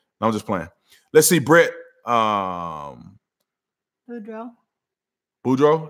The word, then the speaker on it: Boudreaux: Boudreaux? That's how you say it? I want to say Babado because I knew somebody named Babado and their name was spelled like that. So, Boudreaux, thanks so much for the super chat.